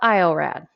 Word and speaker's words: iorad: or used okay and you spell it like you say it so i call it iorad okay it's spelled i